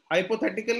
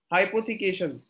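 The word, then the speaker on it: hypothecation: अच्छा mortgage, yes very good, हाइपोथेटिकल नहीं ऋषि, हाइपोथेटिकल नहीं, हाइपोथिकेशन।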